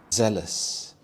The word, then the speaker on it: zealous: Zealous. Zealous. This has two syllables and the stress is on the first syllable.